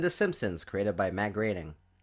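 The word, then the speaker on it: Groening: The shows I'm referring to are Family Guy were created by Seth Mcfarlland and The Simpsons created by Matt Graining. Graining. That's how it's pronounced, guys.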